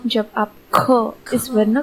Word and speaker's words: ख: इसी क को जब मैं महाप्राण में उच्चारित करूंगी तो यह बन जाएगा ख। आप यहाँ पे देख सकते हैं कि इस वर्ण का सही उच्चारण कैसे किया जाता है। और यहाँ पर भी आपको वो टिप फॉलो करनी है कि सभी महाप्राण वर्णों का उच्चारण कपालभाति प्राणायाम की तरह होता है।